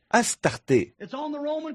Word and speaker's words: Astarté: DS ichtart a r ça se prononce aussi a S t a r T e accent aigu Astarté elle est gravée sur